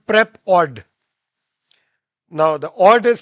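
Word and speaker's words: PrepAud: they have come up with a company called prep odd now the odd is spelled with AUD which means audio so in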